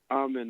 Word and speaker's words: Amen: Um Amen was was Armen as they pronounce it was selected on the on the first team all defensive units for this season.